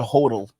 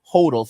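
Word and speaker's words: HODL: going to want to hodal that's a term from the cryptocurrency community hodal it mean it stand it means hold but they say hodal so they spell it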